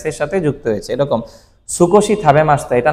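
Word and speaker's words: 少し: বলা হচ্ছে তাকসান আর অল্পকে বলা হচ্ছে কি স্কশি কি বলা হচ্ছে স্কশি বলেন আমি কম খেয়েছি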